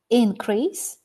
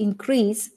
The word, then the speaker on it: increase: significant increase in sales so that's the noun does the process which happened if we talk about action activity the stress changes we need to increase our budget for trainings